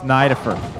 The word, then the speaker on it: Nidifer: I know that's the right way to say it. I call him Nidifer. It's Nidifer. It is.